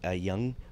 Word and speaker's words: Jung: it, and I go, am I saying this guy's name wrong? And she finally goes, yeah, it's actually Jung, but you know, I just didn't want to make you feel like shit.